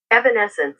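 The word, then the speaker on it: Evanescence: How do you pronounce that? Evanence.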